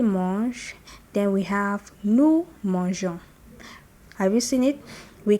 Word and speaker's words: mangeons: Je mange, tu manges, il mange, nous mangeons. Without the E is mangon, which is wrong.